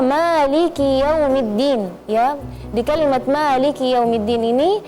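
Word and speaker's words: مالك: Terus ketika membaca maiki yaumiddin ya di kalimat Maliki yaumiddin ini kita perhatikan kasrahnya huruf kaf ya. Karena biasanya kalau kita terburu-buru kesannya sukun maiki yaumiddin.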